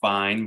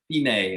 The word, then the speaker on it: fine: the fine which means i know it's spelled like fine but this is italian so it's fine as in finale as in done so on the second